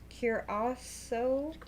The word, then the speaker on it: Curaçao: Okay, how do you pronounce it? Curaçao.